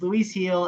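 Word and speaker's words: Luis Gil: m going Luis heel that's fair it's it's Luis heel and uh he also he might be uh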